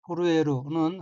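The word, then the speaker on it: 震える: 다음 어휘는 한자가 우레진자이고 일본어로는 후루에루라고 읽으며 후루에루는 흔들리다, 떨리다는 뜻의 자동사입니다.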